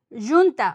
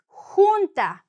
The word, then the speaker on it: junta: Now, if you read it, don't say junta or jonta. It's junta. The he and the u. Junta.